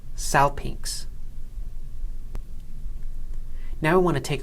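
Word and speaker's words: σάλπιγξ: Finally, we have xi following gamma in the word pronounced salpinx.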